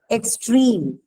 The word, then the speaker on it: extreme: to be stressed okay example here is complete extreme okay so what is this complete extreme both of them are adjectives and uh if you look at complete the last um syllable which is bleach right that has a long vowel e extreme also the case is C so because of the presence of a long vowel in the last syllable the stress is again on these two I understand uh you